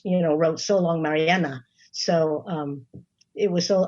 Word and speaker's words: Marianne: out more about mariana i want to make sure i got it right mariana some people call her marianne um the song is